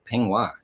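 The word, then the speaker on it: peignoir: it up with these extra keywords like uh pingua now that's a different one we'll tell you how to spell that p e i g n o i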